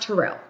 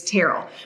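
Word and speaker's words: Terrell: like it's Terell Owens it's not Terell it's teral but you have those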